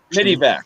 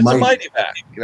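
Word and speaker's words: Mityvac: Zippo, you are the first one in a long time who's pronounced it correctly. On the way. Midivac.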